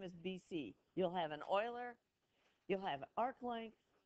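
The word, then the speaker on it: Euler: BC you'll have an Oiler you'll have Arc Length no it's pronounced Oiler yep okay um what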